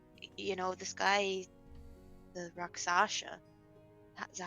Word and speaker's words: Rakshasa: But don't think Dwindle would help, but maybe, you know, this guy, the Rakshasa. Is that how you say it? Sorry. Rakshasa.